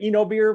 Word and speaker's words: Oenobeer: different pronunciation uh things i say eno beer because he's talking about you know this is that's the diphthong the oe is you know we say enology that's what that's what i call myself sometimes an enologist um but you can also pronounce that diphthong a little differently if you want but yeah and oh